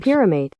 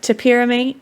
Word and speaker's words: topiramate: How to pronounce? Don't take anybody else's prescription drugs. Topiramate.